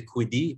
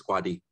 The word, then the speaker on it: Kwadi: that up too no surprisingly you said it right most people say kudi but his quadi okay um hi everybody